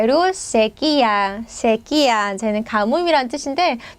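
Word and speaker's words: sequía: 쟤는 가뭄이란 뜻인데 여러분 이렇게 강세 이렇게 콕 찍혔으면 그냥 힘만 주시면 됩니다. 자, 강세교칙 꼭 같이 한번 체크를 해주시고요. 저희 발음 잘못하시면 안 돼요, 여러분. 특히 한국 분들이 새끼야 이러면 안 되잖아요.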